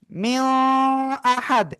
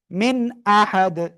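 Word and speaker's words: مِنْ أَحَدٍ: তাহলে বলবো কি মিও আহাদ, এভাবে বলবো না। মিও, এটা কি গুন্না হয়ে যাচ্ছে, তাহলে হবে কি মিন আহাদ, মিন আহাদ, মিন আহাদ।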